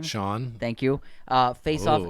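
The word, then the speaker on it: Schon: Neil Schoen is that you say his name Sean thank you uh face off in court over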